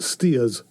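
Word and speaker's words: Staithes: saltburn and whitby um it's pronounced steers by the locals um and the um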